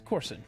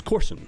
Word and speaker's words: Coursen: It's Coursen. It's Coursen, Okay. like golf course with an N.